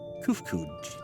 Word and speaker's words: Kufkuj: As for nomenclature to address my individual person, I believe it would be pronounced Kufkuj. That is what I'm going with. Yes, Kufkuj of the Ia.